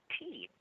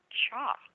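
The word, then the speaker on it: 茶: of my favorite teas the chinese character for tea is pronounced differently in different chinese languages most of the languages pronounce it along the lines of cha but the men chinese say tea thus we hear both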